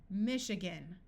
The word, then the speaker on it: Michigan: a type of fabric Michigan note that this a schwaz Michigan is a state in the United States in this word the I is going to sound like a long e machine brochure parachute notice